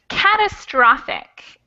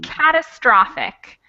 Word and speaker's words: catastrophic: little notes on pronunciation this is catastrophic and this over here is catastrophe so the stress changes a little between catastrophic and catastrophe okay all right and